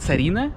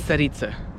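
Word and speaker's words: царица: don't know why but in english they always call it serena but i mean it doesn't it's saritsa just just it's sarita it's just they cannot pronounce it that's it can you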